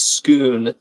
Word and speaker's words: Scone: But if scone is actually pronounced as people say, which is scoon, that just breaks the rhyming idea altogether.